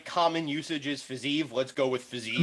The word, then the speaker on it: Fiziev: typically that would be pronounced Fiziev, in that's how they do those sort of V's on the end.